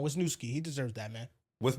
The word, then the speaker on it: Wisniewski: Wisnowski? Yeah, with my interior line, baby. Oh, you said with my? Wisniewski. Wisniewski. Yeah, you can do that back. Pronounce the name right. Come on, Wisniewski.